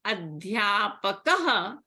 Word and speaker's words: adhyapakah: So the visarga takes the sound of a hakara plus the vowel before the visarga. So here in adhyapakah, the vowel is a. So when you are pronouncing this, the ending sound should be ha.